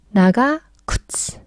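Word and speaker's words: 長靴: 나가 굿스 발음 힘드니까 나가굿스 긴 신발 즉 장화 느낌 팍팍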